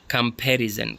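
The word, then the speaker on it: comparison: है पहले वाले में कंपैरिजन कंपैरिजन फ इसमें भी सेकंड पर है पोटेटो पोटेटो पोटेटो इसमें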